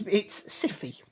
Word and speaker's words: Syfy: what they didn't realise is people wouldn't call this it's not pronounced sci-fi, and neither is it called shufia. It's siffy, Siffy. and siffy is a slang term for syphilis.